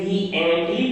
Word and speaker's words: vehemently: Money ने कहा vehemently, यहाँ पे स्टूडेंट ये साइलेंट है, vehemently पढ़ा जाता है।